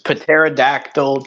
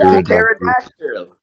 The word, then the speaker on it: pterodactyl: Yeah, the Pterodactyl. pterodactyl. You see, a Pterodactyl. pterodactyl and a pterodactyl are two completely different things, obviously. You gotta A differentiate. pterodactyl. It's a pterodactyl. The P is silent.